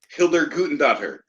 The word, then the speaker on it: Hildur Guðnadóttir: I'm sorry, I'm trying to pronounce it. The Joker. That is correct for 2 points. Hildur Guðnadóttir. Gudendottir?